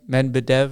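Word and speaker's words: Medved: coaching I thought that what is it Nico Med medev medev or nailed it nailed it right I thought the Colorado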